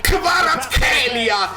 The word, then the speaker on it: Kvaratskhelia: Kvara, not Q. Esattamente, say my name, dici il mio nome. Kvicha Kvaratskhelia. Ma quanti video al giorno stanno uscendo per questo ragazzo? Centrale? Come Zielinski? Kvicha Kvaratskhelia. C, not CH. Elia, not Ela.